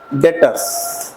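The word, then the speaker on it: debtors: का नाम क्या है डेटर्स बी साइलेंट रहेगा इसमें डेटर्स क्लियर हुआ पक्का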